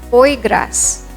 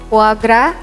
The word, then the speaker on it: foie gras: probably pronounce this as hoi grass it's so much more entertaining than that you have to pronounce it as cuagra with s being silent it's a type of